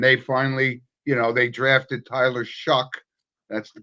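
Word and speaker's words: Shough: or 1-9, and they finally, they drafted Tyler Shuck. That's the correct pronunciation.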